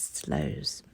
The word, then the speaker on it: Sluys: It's Sluys. And I looked it up, and it says online you pronounce it as Slows.